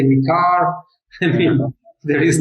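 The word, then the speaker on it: MiCAR: So yeah, I think the pronunciation is going to take a while to get right, but yeah, I've started now. Mikar, that's right. Mikar, yeah. Oh, I think in Europe there is people say Micah, also they say Mika, also they say Mikar.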